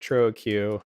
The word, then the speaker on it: Choro Q: combat Court Trio Q which I'll pronounce this for Q a million times because for 10 years of my life I thought it was squirrel queue and then I realized that Japanese doesn't work like that thank you Cannon I'm